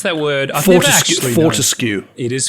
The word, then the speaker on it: Fortescue: Is that how you pronounce that word? Fortescue. It is Fortescue.